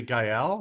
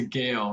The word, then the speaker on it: Gael: What is the Gael? Is it Gael? Is that your mascot? It's a Gale, Roxbury Gales. Oh, it's a Gael.